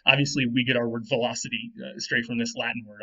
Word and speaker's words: veloci: Now, in Latin, V's are always pronounced like W's, at least in classical Latin, and C's are always pronounced hard like K. So this would be veloci, which doesn't sound like velosa, but it's the same word from Latin.